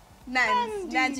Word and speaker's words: Nandi: Nandi. You can call me Nans for you. Nans. Okay. Nandi's a bit harsh. Yeah. It's the D part. I can't pronounce the click. Yeah. Because there is a click.